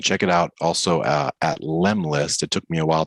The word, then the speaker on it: Lemlist: And check it out also at Lemlist. It took me a while to figure out like how to spell or pronounce that. So it's LEM and then list.